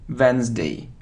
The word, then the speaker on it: Wednesday: isn't V wed day wday no we don't pronounce it so wday Wednesday it isn't news news it isn't news right